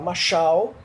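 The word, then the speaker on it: משל: Parábola no hebraico, ela se escreve, se fala machal, no singular, e no plural machalim.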